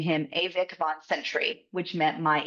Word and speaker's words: ewig: And I was going to name him Avik von Sentry, which meant my eternal guardian, because Avik is the word of eternal in German.